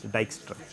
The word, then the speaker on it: Dijkstra: algorithm is due to Dijkstra J is pronounced Y so it will become VI y case Dijkstra okay and what did